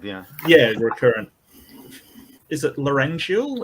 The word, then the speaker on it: laryngeal: I've been saying it wrong no no it's laryngeal it's definitely laurential um that's that's okay we